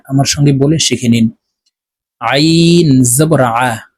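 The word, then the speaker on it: ع: সঙ্গে বলে শিখে নিন আইন জবর আইন হরফকে হলকের মধ্যখান থেকে চাপ দিয়ে উচ্চারণ করব আমরা অনেকে আইনের উচ্চারণ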